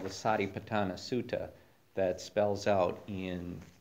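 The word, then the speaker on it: satipaṭṭhāna: uh we'll move into tonight's topic which is sa patana and so that's the that's the pronunciation of the word on uh under part two there on the handout sa patana um and that's a poly term term it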